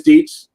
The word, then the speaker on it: Dietz: Do I pronounce your name Dietz? Do I have it right? Or is it Dietz? Or hit me up. It is Dietz, and that's the proper pronunciation, at least past Governor's Island 70 years ago.